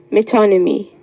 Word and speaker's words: metonymy: of a metonymy metonymy am I pronouncing the word correctly yes metonymy m y t o metonymy sorry the word is